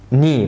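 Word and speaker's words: nie: ليد، ليد، ودي ني، برافو عليك.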